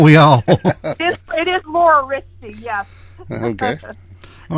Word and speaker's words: Riste: Well, all I've heard is wrist. So no, it's Rist E. You say the E on the end.